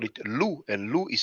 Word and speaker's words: loup: We call it loup, and loup is spelled that way. It's spelled L-O-U-P, but the P is not pronounced, loup.